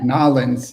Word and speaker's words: New Orleans: About New Orleans too, Nolens. If you're from New Orleans, you pronounce it Nolens. But if you're French, it would be New Orleans. Oh. But we all Americans pronounce it New Orleans.